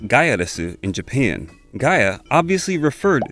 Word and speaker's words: Gaiares: finalized title gyrus pronounced gaiaresu in japan gaia obviously referred to the earth and res was meant to be the english word les which when pronounced in japanese would be said as resu so technically gaiares should